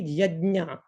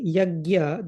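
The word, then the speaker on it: यज्ञ: But in case of this word, the pronunciation will be yajna, yajna. So first of all, there are different representations. If we say yagya, that is also wrong. I mean, people can pronounce it and like other people are understanding what they are trying to mean, but that's not the correct pronunciation. Yagya is wrong.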